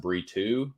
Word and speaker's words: Brito: versus Joe Anderson burrito I don't know why it's pronounced burito um that I just